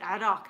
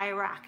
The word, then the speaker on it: Iraq: And yes, actually pronounce it Iraq, not Iraq.